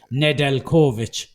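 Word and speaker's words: Nedeljković: have to pronounce it nedel kovich almost like a double barrel it's a single name they said you pronounce it almost double barrel so it's nedel kovic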